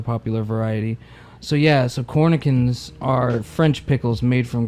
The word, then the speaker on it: cornichon: I think they're pronounced Cornichon. Cornichon. Cornichon. I know it's a C there.